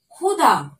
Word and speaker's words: ক্ষুধা: দেখো, ক্ষুধা, ক্ষয়ময় হস্যু ধয়াকার। ক্ষুধা, ক্ষুধা অর্থাৎ খিদে পাওয়া। কি, তাই তো? বোঝা যাচ্ছে? দেখো, একদম কিন্তু সম্পূর্ণ উচ্চারণটি ক্ষয়ের মতো হচ্ছে।